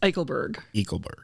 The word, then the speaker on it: Eickelberg: And so, without further ado, this week's guest is Eickelberg. Did I say that right? Close. Eickelberg. Eichel. Like Eichel. Eichel. It's German. It's hard.